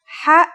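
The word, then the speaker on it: حاء: no counterpart in english it sounds like the sound you make when trying to cool your mouth and throat after eating something very spicy the closest english counterpart to the sound is h the only difference is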